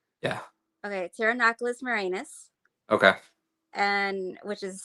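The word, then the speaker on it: Pterinochilus: Pteronoculus marinus. Okay. And which is stupid because there's a P in front of a T, which is stupid. But Yeah, anyways. the P is silent, yeah.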